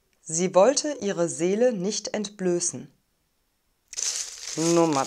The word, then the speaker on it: entblößen: end ist immer unbedingt wir haben einen langen geschlossenen umlaut ö ein scharfes s also einen stimmlosen es laut und eine reduzierte and silbe das wird also als schwach oder sogar gar nicht ausgesprochen sie wollte ihre seele